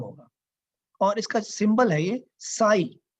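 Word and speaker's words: psi: और इसका सिंबल हैय साई पी एस आई प साइलेंट है साई का नाम देते हैं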